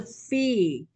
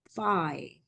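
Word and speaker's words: phi: there is uh Fe so we read in Greek it's a fee but in English they read five I so let read in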